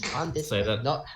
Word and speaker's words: Llandudno: It's Llandudno. Say that again. Llandudno, not Llandudno. It's Llandudno. Llandudno? Okay. I don't understand, but it's spelled Llandud. Yeah, double L's are Welsh.